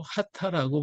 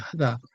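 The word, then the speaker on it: 秦: 쓰면 진시의 진나라 진자인데 문자를 쓰면서 일본어로 하타라고 발음. 이 진이라고 이름을 쓰면서 부를 때는 진이라고 말하지 않고 하다라고 써요. 하다.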